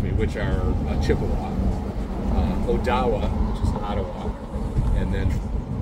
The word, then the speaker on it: Odawa: Ottawa uh excuse me which are chipa uh Odawa which is Ottawa and then uh badami is actually the pronunciation instead of Kwa and uh some Miami